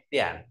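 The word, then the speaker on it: 点: rồi, rồi chính xác, tiễn nét chấm thì đọc là tiễn.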